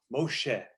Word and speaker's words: Moshe: of the water yes the hebrew word moshe means draw from water moshe that's how you say it in hebrew okay what what what